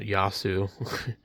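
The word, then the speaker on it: Yaesu: And also they don't even know how to pronounce it, Yasu.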